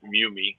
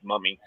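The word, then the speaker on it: Mumy: billy mummy i said i think he pronounced it mew me but everybody says mommy his three his three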